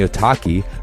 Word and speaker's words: Otaki: And the Otaki rhymes with souvlaki, is an aggressive high-performance shoe designed to hold the downturned shape even after repeated lashings.